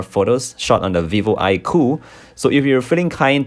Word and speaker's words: iQoo: This is a new lineup from Vivo, and the company calls their latest flagship smartphone the iQoo, which is pronounced as iQoo.